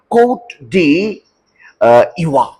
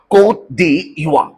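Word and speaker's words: Côte d'Ivoire: इसका प्रोनाउंसिएशन भी बड़ा अनोखा है। इसे कह रहे हैं कोट डी इवा, कोट डी इवा।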